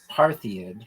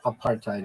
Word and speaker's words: apartheid: if I've ever said paradid. Have you heard a South African ever say aid? No. Apartheid is what they say.